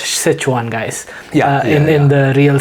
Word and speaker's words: Sichuan: We know like Sichuan is a spicy place because even in India we we pronounce it as shwan. Okay. Yeah. Yeah. Yeah. But now I know it's actually pronounced Sichuan guys in in the real sense.